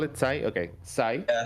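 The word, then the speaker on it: ξ: Yeah, for some reason in Uh, English the letter X is sometimes pronounced as a Z. Don't ask why. Yeah, Just I like know that. in Greek it's Why? called she with like SH, but yeah, okay, that's Sai.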